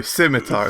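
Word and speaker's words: scimitar: doing the word thing I obviously know it's a skyar to call it skar no simitar it's obviously a silent s embarrassing um very much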